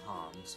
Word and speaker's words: Homs: Melia is a high Entian Homs, or human.